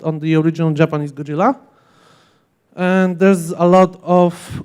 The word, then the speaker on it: Gojira: need to mention them the Japanese name is actually Gojira or Gojira how depending how they spell it in the movie